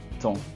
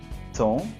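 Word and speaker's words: thon: C'est comme s'il n'y avait pas de H.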